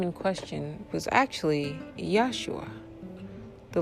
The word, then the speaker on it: Yeshua: The individual's name in question was actually Yeshua. The letter J, and in the way we pronounced it as J, did not exist as a letter during his time period.